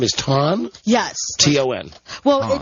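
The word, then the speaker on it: Thanh: T-O-N. Well, Ton. it's pronounced like that.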